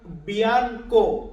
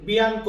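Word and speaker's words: bianco: এটাকে আমরা ইতালিয়ান ভাষাতে বলি বিয়ানকো ইতালিয়ান শব্দ বিয়ানকো আমার সাথে বলবেন বিয়ানকো বা অনেক ক্ষেত্রে আমরা এটাকে বলি বিয়ানকো উচ্চারণটা এমনও আসে অনেক ক্ষেত্রে তো বিয়ানকো বা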